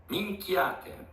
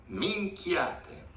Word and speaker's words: Minchiate: help me and all of you with the pronunciation of this tarot. So here it is. Minchiate. Minchiate. Minchiate.